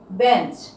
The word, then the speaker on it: বেঞ্চ: বেঞ্চ, বেঞ্চ।